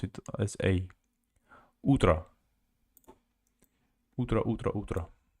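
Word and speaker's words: утро: Ultra utra also o instead of O they pronounce it as a utra utra ultrautra f thank you exploring I guess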